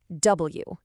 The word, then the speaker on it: W: Now for a really interesting one, W. Its name is literally W. It's the only letter with more than one syllable.